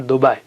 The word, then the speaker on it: Dubai: Arabic, words that where you pronounce it softly, like Dubai, fly, lie, right, and so on. You don't say Dubai. Maybe you will go to some other place if you say Dubai. It's Dubai, it's not Dubai.